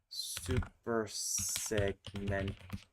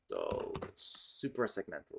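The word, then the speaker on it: suprasegmental: Super segmental. Supra segmental. It's not super supra.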